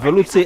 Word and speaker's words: Velouté: Velouté asparagus.